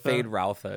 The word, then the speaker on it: Feyd-Rautha: I do wish they had set up for, and I don't know how to pronounce his name, Feyd-Rautha. Feyd-Rautha is how they pronounce it in the first movie.